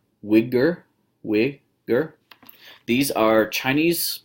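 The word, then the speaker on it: Uyghur: poems some the name to pronounce name it's pronounced Widger we hear these are Chinese people I've got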